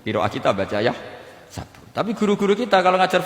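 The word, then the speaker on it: يحسب: Karena dalam qiraat sab'a ada yang baca yahsibu, qiraat kita baca yahsabu. Tapi guru-guru kita kalau ngajar fikih itu bacanya yahsibu.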